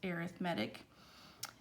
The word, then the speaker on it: arithmetic: about the arithmetic sequence looks like the word arithmetic pronounced arithmetic it says in an